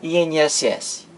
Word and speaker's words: INSS: Aqui em INSS, eu pronuncio cada letra individualmente. Eu digo I, N, S, S.